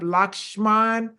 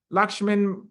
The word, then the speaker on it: Lakshman: I'm going to let him pronounce his name because I don't want to mess it up. Lakshman Mulpuri. Lakshman Mulpuri.